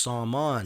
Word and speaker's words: Saman: I couldn't even recognize my name because in Farsi or Persian it's pronounced Saman.